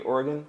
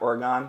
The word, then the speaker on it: Oregon: you need now is probably should be Oregon not Oregon but I'm an East